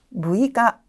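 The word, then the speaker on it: 六日: 6일은 무이가, 6개는 무즈라고 발음이 되고 있습니다.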